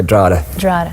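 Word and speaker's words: Drogheda: do you say it drada I like the way you say well if you're if you're in my hometown you'd say dra dra yeah so that's the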